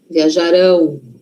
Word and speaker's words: viajarão: E o futuro? Futuro não é lá na frente? Então, a sílaba forte está lá na frente. Viajarão.